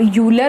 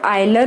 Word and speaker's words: Euler: पीछे एक Swiss mathematician, अब उसको आप यूलर बोलते हो, आयलर बोलते हो, ऑयला बोलते हो, ये आप पे डिपेंड करता है। इसमें वैसे में इसका प्रॉपर प्रोनाउंसिएशन गूगल पे सर्च करें तो ऑयला है, लेकिन आप इसको यूलर